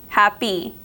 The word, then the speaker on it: happy: and now we have happy this word sounds like it's spelled with a double e at the end a long long e e happy but it's not it's spelled with a Y and finally we have